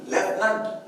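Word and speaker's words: lieutenant: प्लेटो मग आता लेफ्टनंट एल आय ई यू टी इ एन ए एन टी लेफ्टनंट म्हणताना आपण लेफ्टनंट म्हणतो म्हणजे फ चा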